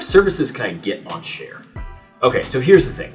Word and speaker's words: Shaar: from churches here at share question number one how do you say the name share share share share it's not shar it's not sha r it's share question number two what